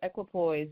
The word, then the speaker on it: Equipoise: Yes, Equipoise, yes.